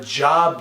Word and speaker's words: Job: that he's got a job to do and job is the same way spell the same way as a book of Job just pronounced differently okay so we have